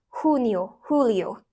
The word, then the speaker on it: Julio: on the region or country and yes I pronounce ounc the J as an H Julio we will also start every Lesson by asking